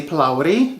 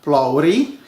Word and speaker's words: Phulawri: In my country, the Indian people would say Phulawri, the correct way, or Phulawri, with less of an R sound.